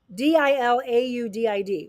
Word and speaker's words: Dilaudid: uh is that I don't know how to pronounce that one Dila d-i-l-a-u-d-i-d what's that one allotted Dilaudid okay okay so